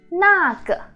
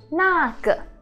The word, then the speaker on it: 那个: So you see 个 has nothing above. There's no tone, right? It's called neutral tone. You go really light.